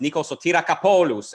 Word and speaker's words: Nikos Kapoulos: A man who, legend has it, is name pronounced Nikos Kapoulos, and we're here to talk about the social media political complex, if there is one or if there will be one.